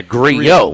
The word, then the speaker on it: Grillo: Another double L that's pronounced differently, according to the PGA Tour pronunciation guide. Emiliano is 2 L's? That's 1. Right, but okay. Grillo is 2, back-to-back. Yeah, Grillo, right. Yes. The double L's are a Y, yes.